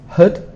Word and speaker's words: hood: Flash are quite easy hood is not easy because we have double O you need to remember that for the spelling but the pronunciation is it's more of an uh sound a bit like the word good but with h coveralls coveralls this is